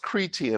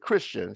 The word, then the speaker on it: Chrétien: It's pronounced Chrétien, although we pronounce it Christian, spelled Chrétien.